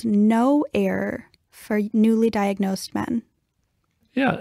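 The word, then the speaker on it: Know Error: There's a different type of genetic test that I've heard about called no error for newly diagnosed men. Yeah, it's spelled K-N-O-W error, kind of a tricky little play on words.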